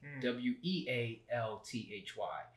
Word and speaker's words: WELTHĒ: people don't understand it it's the phonetic of wealth wealthy WEA LT hy right so he would be like the wealth guy right they see the weh but they don't they don't pronounce the e with accent here right wealthy so it's a long time for people to even now still people like the wolf guy and it's like no the wealthy guy get the rest